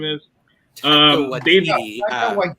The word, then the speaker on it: Waititi: I can never pronounce it right. Taka Wahidi, whatever his name is. Taika Dave Waititi. Waititi.